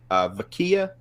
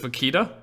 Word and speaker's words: vaquita: it's the ween knives baqia am I saying it right I think it's vaquita vaquita T in there like Chiquita but vaquita but it's very popular